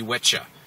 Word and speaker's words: Wicca: supposed to be pronounced, it's supposed to be witcha and witche craft.